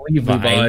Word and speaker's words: Levi: Levi? The guy who shares my fucking name. Yeah, it's pronounced Levi. Yeah, but they call him Levy though.